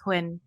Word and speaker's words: Nguyen: say my surname again Quinn Quinn I I said it was Quin yeah quinin how do you say it is how you say in Vietnamese hin yeah well I mean